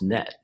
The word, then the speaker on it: KNET: lead forensic specialist for kn-e-t pronounced net thank you for joining